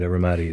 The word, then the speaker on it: Ramadi: And Ramadi is pronounced correct.